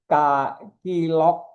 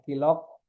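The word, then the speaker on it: KLOC: Nah, ini penting dari kilock ya bacanya kilock.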